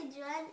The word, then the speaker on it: Djoan: Alors, moi, c'est Joanne et là, c'est Neva.